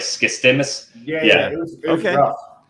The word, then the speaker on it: Skistimas: And it's Skistimas is how you say the last name. Yeah, it sounds like it's spelled.